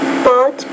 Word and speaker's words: pot: Pot. It's not bought, it's pot. Pot.